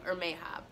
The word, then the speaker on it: Hermes: So for several weeks, I have been working on and off on a video for Hermes, which I think the pronunciation, like the Greek pronunciation, might be Hermes, which I love.